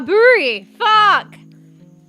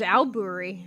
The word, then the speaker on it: aburi: I thought it was alburi, but it just depends how you say it, I guess. But it's actually spelled A B U R I. Aburi.